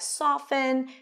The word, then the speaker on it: soften: But the T-E-N pattern changed, and the T was no longer pronounced, and we see it in words like soften and fasten your seatbelts. We don't pronounce the T here.